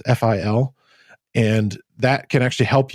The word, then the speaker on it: Fil: And that's where like a program like his tool, it's a memory profiler called Phil, I think it's pronounced FIL.